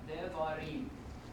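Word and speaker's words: דברים: Devarim.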